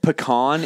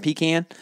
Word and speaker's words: pecan: say acorn um but did you know that pecan is technically the actual right way to say the word not pecan you know how you